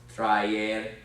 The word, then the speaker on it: traer: And don't let it bother you that these, and by the way, whenever you have verbs that have a dual vowel, it's never a diphthong. These are separately pronounced, just like with creer, traer.